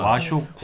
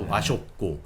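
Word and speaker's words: 和食: 와쇼쿠. 와쇼쿠는 와쇼쿠. 우리나라 조화를 뜻할 때 한자 화인데 예. 그걸 이제 일본어로는 와라고 읽는데 와쇼쿠는 쉽게 말해서 우리가 한식 같은 겁니다.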